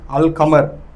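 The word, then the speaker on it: القمر: அது என்னன்னு சொன்னால் அலிஃப் லாம் அல்லுண்டியும் தானே, அல்லுக்கு பிறகு கமரியா எழுத்துக்கள் வந்துச்சுன்னு சொன்னால் லாமை வந்து உச்சரித்து வாசிப்பாங்க. அல் கமர், காஃப் வந்து கமரியா எழுத்துங்களே, அல் கமர்னு வாசிப்பாங்க.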